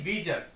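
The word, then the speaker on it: visage: Next word देखते हैं वीजस। वीजस माने होता है चेहरा, इसको ऐसे, इसका प्रोनाउंसिएशन ये है सही, वीजर।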